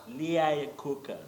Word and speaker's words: Iacocca: The other name normally defeats me to pronounce well. Iacocca? Iacocca.